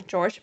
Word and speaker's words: Jorge: that George Torres um his name is obviously George but it's spelled like Jorge okay yes so if